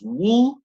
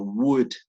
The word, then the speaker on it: would: No le pronunciemos, sí, mejor si no le pronunciamos wool, como con L, sino would, como con D, ¿no? Would. Todas esas should, could, would, ¿no? La L no nos suena.